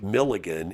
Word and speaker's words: Milligan: The only difference between that Mulligan and Milligan is that my last name is spelled like Gilligan.